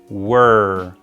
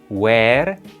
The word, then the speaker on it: were: Fíjense que no se pronuncia where, como normalmente pronunciaríamos dónde, sino que se pronuncia un poquito más cerrado, como si no existieran las dos E que allí tiene esa palabra, como si tuviéramos una W y luego una R.